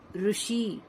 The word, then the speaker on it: ऋषि: ऋषि, ऋषि। हिंदी में इसे हम री बोलते हैं, ऋषि। हिंदी में हम री का साउंड देते हैं और तेलुगु और मराठी में हम इसे रू ही प्रोनाउंस करते हैं।